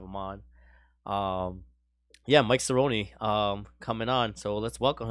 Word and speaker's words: Cirino: Cirino. Nobody ever can get it right the first try. They say Sereno every time.